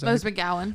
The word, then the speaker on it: Rose McGowan: was from the rose mcgee how do you pronounce the rose mcewen rose mcgowan rose mcgowan that's the only character i got